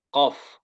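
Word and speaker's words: قاف: Membedakan kaf sama qaf. Kaf dan qaf. Biar nggak eh, apa terbalik bacanya. Intinya kalau ko, ka, ka. Makhraj huruf qaf. Ya. Oh iya. Qaf itu pada pangkal lidah atau lidah paling belakang ya.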